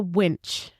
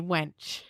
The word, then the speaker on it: winch: It's a winch. It's a winch. And I would I used to call it a wench.